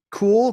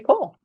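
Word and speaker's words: Kühl: Kevin yeah but uh cool k-u-h-l I think is how you pronounce it company uh and then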